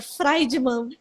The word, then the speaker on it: Friedman: Eu vou, amor, é Friedman, é chique, mas sabe qual é a pronúncia certa? Friedman.